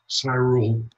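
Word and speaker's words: Syrul: Cyrule, okay. Even though Cyrule. It's spelled S Y R U L, I think. S Y. I think someone. Yeah. S Y R U L. But I pronounce it Cyrule.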